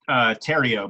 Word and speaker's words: Theriot: Am I saying it right? Theriot? It's Theriot, but close enough. No one ever says it right.